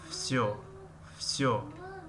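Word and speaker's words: всё: در کلمه وسیو همه می نویسیم وسیو، اما تلفظ میکنیم فسیو.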